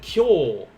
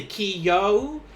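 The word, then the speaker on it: 今日: that does work then kyo uh this is where i have to remind you guys um the small yo here if you say ki yo that's a different word this is one syllable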